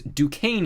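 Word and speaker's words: Duquesne: that we're looking for is Dukane University, or uh, if you're unfamiliar with how to spell it, I always remember to look at it as DuquesNY.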